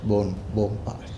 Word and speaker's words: Bonpa: N is silent, Bonpas.